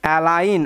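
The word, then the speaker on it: align: এন এর জন্য আইন জি সাইলেন্ট তোমরা এটাই মনে রাখবে শব্দের শেষে জি এন থাকলে জি সাইলেন্ট এন এর উচ্চারণটা শুধুমাত্র হয় এবং তার আগে আই থাকলে অবশ্যই আই এর উচ্চারণটা আই এর মত হবে ওই কারণেই কিন্তু এটার উচ্চারণ আইন এরকম ভাবে হচ্ছে যাই হোক এখানে দেখবো এবার আমরা উচ্চারণটা করবো ভালোমতন এল এল এ এল এর জন্য এল তার সাথে আই জি এন আইন অ্যালাইন অ্যালাইন মানে সারিবদ্ধ হওয়া তারপরে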